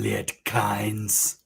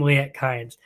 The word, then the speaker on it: Liet-Kynes: his stuff up and he pronounces his name what's his name he says i am lit kinds i'm liat kinds have you ever heard him address like that before um we've heard him called lyette we've heard him called